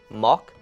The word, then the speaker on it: moc: A, mok, B, pok, C, dniu, or D, Mike Krzyzewski?